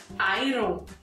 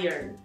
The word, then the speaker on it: Iron: E a pronúncia ã é um pouco confusa, porque as pessoas acabam falando iron. Eu gosto de iron, mas a pronúncia correta é irn.